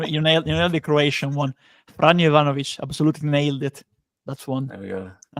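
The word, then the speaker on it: Franjo Ivanović: you pronounce the Croatian, you nailed the Croatian one. Franjo Ivanovic absolutely nailed it.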